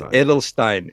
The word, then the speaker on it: Adelstein: was it is Edelstein it is Edelstein I'm not German so forgive my pronunciation of a little off but it's Edelstein I just got a